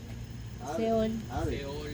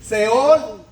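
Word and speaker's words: שאול: ¿Y cómo se dice en hebreo? Hebreo, sepulcro, seol, seol.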